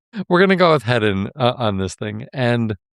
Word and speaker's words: Heddon: Is that how you would pronounce this? Heddon? Heddon. Yeah. I don't know how else to. Heddo. That's a really weird spelling. So yeah. Heddon, head on. No. It's not a head on, right? Heddon.